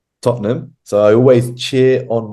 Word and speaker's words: Tottenham: fantastic football team which is Tottenham it's not pronounced tottingham it's pronounced Tottenham so I always cheer on my football team